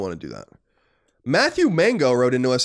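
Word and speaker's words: Maingot: Matthew Mango wrote into us, and I think it's how you say it, M-A-I-N-G-O-T. It's not spelled like mango the fruit, but rather French mango.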